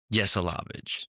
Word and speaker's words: Yesalavage: Yes. Alavage.